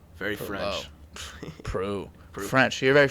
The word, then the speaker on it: Proulx: Proulx. Very Proulx. French. Proulx. French. You're very French. Proulx. Proulx. Proulx. You only need about 4 letters of my last name to pronounce it correctly.